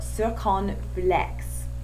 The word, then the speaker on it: circonflexe: this lesson together that I've been pronouncing this wrong forever. I haven't actually seen the word spelled out, so I'd been pronouncing it wrong, so I learned something today too. It's accent circonflexe.